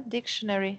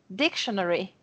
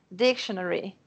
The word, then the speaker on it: dictionary: a outra não é dictionary, é dictionary, que eu falava de outro jeito. Essas duas palavras, são duas palavras que têm a sílaba tônica no início, na primeira sílaba, né, e que é